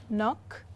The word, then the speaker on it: knock: of words foreign so that was a video on the silent k so hope you found that useful so for example if we say knife knock knickknacks so that's something for